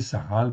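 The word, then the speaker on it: שכל: On va le prononcer saral parce qu'il n'est pas, en fait, ici, il n'y a pas de dagesh dans le kaf.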